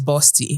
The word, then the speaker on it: Bawsty: And the name of the brand is Bosti. Yes, tell me. And it's spelled B A W S T Y.